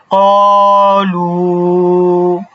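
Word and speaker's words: قالوا: জন্যও একটা টান হবে তাহলে উচ্চারণটা কি হবে কলু কলু কলু ঠিক আছে তো এইটা ছিল হচ্ছে এক আলিফ টান।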